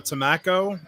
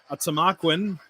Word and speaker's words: Tamaqua: I actually used to call Tamaqua Tamaco. I had no idea. I'm just an idiot from Baltimore that moved up to Pennsylvania. And I had no idea how to pronounce Tamaqua. So I called it Tamaco. And then I got my verbally butt kicked by a Tamaquan. And talking about. So now it's officially Tamaqua. It will always be Tamaqua, and I love it.